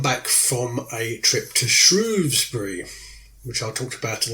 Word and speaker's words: Shrewsbury: Thames to Shrewsbury, and it's pronounced like the animal, the shrew, S-H-R-E-W, Shrewsbury, although some people outside the area say Shrewsbury.